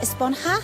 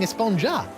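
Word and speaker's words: Esponja: Actually, it's pronounced Esponha with an H sound at the end. Really? But we've all been saying Espongja.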